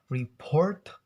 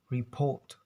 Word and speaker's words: report: When the Americans pronounce R, in British they will avoid to pronounce it, like report become report.